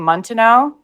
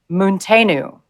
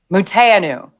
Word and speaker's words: Munteanu: I've been saying Montenot, and Patrick is correcting. He says he's German of Romanian descent and his surname is pronounced Munteanu. Wait, Munteanu.